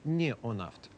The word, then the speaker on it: Неонафт: Нужно правильно говорить «неонафт» или «неонафт»? Как вам угодно. А как вам угодно? Мы произносим обычно «неонафт».